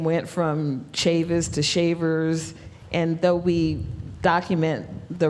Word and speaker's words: Chavers: who have the name shavers spelled s-h-a-v-e-r-s which is their spelling chavers which is pronounced Shavers c-h-a-v-e-r-s Chavis c-h-a-v-i-s um